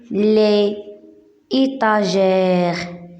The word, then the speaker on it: les étagères: il est pose sur les étagères on dit avec la liaison les étagères les étagères d'une piramide